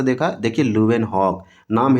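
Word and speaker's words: Leeuwenhoek: देखिए लुएनहॉक नाम है इसका ल्यूवेनहॉक। अच्छे से आप प्रोनाउंसिएट करेंगे।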